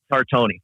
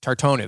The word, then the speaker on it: Tartoni: Tartoni. Tartoni, that's right.